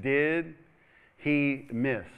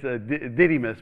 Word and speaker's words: Didymus: But I always pronounce it, did he miss? Okay, it's Didymus, but did he miss?